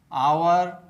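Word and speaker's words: hour: you repeat after me ऑनर ऑनर आवर आवर honest honest will will whisper whisper what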